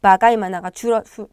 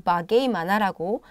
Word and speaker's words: bagaimana: 그래서 바가이마나는 어떻게, 바가이마나 또는 바게이마나라고 읽으셔도 됩니다. 네. 출신에 따라서 고향 지역에 따라서 인도네시아 현지인들이 어떤 사람들은 바가이마나라고도 얘기를 하고요. 어떤 사람들은 바게이마나라고도 얘기를 하거든요. 둘 다 같은 단어입니다.